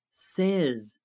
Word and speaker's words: says: Present tense, say, says. Be careful with the pronunciation of says.